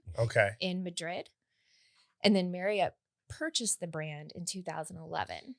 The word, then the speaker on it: Marriott: Marriott. Did you know It's that? Marriott. I know. It rhymes with chariot. If you Chariot. just say chariot, Marriott. Marriott.